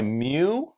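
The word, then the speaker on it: μ: have Micro represented by mu okay or and that's how you you pronounce it okay mu mu okay or me W depending that's a Greek letter okay that is 10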